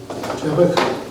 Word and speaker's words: Jabbok: Jabbok? Yeah, Jabbok. Okay. Yeah. And I don't know how to pronounce a lot of stuff, and that's Bible, so.